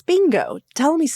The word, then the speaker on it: Bingo: I have seen Bluey, and as is heard around here, Binjo. Bluey and Binjo. That's how my nephew says it. It's not. It's bingo.